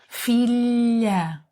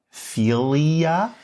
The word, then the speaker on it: filha: Think of the word million, in English. Million, million. Fillia! No? Sort of. The position of your tongue, the tip of your tongue touches the roof of your mouth and the sides of your tongue are slightly open. OK. Son, daughter. Much better. Son, daughter, corn, eye. Corn, eye. So, it's like saying million and yes at the same time.